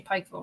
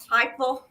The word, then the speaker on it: Pikeville: say it right either I didn't say Pikeville right Pikeville yeah I said it with two syllables Pikeville yeah so um Donna